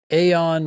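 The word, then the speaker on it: Aodhán: Aon writes in, what to do after cold diagnostic and getting started.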